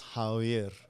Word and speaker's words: Javier: No, because in Spanish it's Javier.